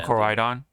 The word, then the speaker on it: Koraidon: I get off of still don't know how to pronounce it. Oh, Koraidon?